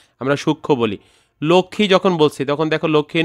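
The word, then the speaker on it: লক্ষ্মী: কিন্তু সেখানে আমরা সুখ ম উচ্চারণ করি না। আমরা সূক্ষ বলি। লক্ষী যখন বলছি তখন দেখো লক্ষীয়ের নিচে একটা মফলা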